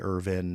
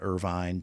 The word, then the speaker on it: Irvine: I put it um say Irvin not Irvine take the challenge so